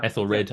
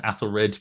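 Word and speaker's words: Æthelred: So I mentioned at the beginning or we mentioned the Ethel Ethl Ethel Ethel Red Athel Red Athel Wolf or whatever however you want to pronounce it Ethel or Athl but yeah basically in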